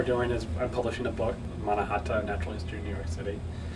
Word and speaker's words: Mannahatta: how do you pronounce the name of your project is it manahatta do i help you say it yeah i call it the manahata product i think you had